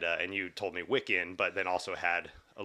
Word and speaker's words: Wiccan: wicked practice and uh and you told me wikin but then also had a little uh diatribe